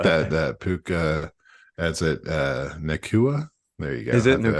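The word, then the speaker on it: Nacua: I think But that Puka, that's it, Nakua.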